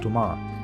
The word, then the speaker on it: Tomar: Tomar, more correctly pronounced Tomar, is a small town 130 kilometers from Lisbon.